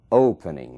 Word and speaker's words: opening: a letra whispering Open Opening mesmo caso Open ali na primeira sílaba é que está a força dessa palavra aqui está a sílaba tônica Opening não dobra então